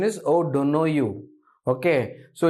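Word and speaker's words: O'Donoghue: the correct pronunciation is O don't know you okay so it's called o don't know you unhappy Tri o don't know you this is an Irish word okay it's an Irish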